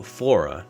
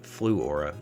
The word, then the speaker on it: Fluora: focus determines your reality so flora although i keep wanting to pronounce it flu aura is the world's first